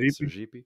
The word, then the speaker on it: Sergipe: Do you ever, so the, just to the north of the state of Bahia is the state of, Sergipe, if I'm pronouncing that right. Sergipe.